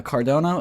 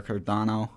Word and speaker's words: Cardano: cardona training and uh cardona is looking very good er cardano um cardono i know i mispronounced that a lot it's okay um but